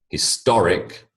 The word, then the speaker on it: historic: these words into pairs notice the shift in emphasis when I build the word the emphasis changes biology becomes biological history